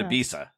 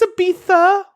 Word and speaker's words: Ibiza: I met him in Ibiza that's how you say it that is not how you say it but keep going to be keep going yes it's it's Ibiza Ibiza yeah okay now you're